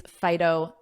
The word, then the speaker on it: phyto: high amount of these phyton nutrients and notice that pronunciation phyto phyto like phone but this is a i fi phto phto so thinking